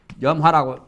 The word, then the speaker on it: 염화: 보통 발음은 점화인데 절집에서는 염화실이라고, 염화라고 읽어요.